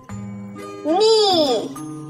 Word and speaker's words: knee: Knee. Bend your knee. K-N-E-E. K is silent.